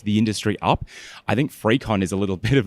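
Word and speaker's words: FreakCon: It's called Frecon. Um, it happens to be free. you, it's free. Um, but it's spelled like you're a freak, like f r e a k o n. Um, and that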